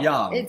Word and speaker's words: Jung: you're gonna google it Google Carl Jung Jung but it's Carl Young Carl yeah it's spelled ju u n g and he talks about